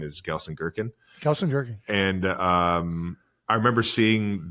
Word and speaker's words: Gelsenkirchen: He came to Gelsenkirchen I think that's how you say it.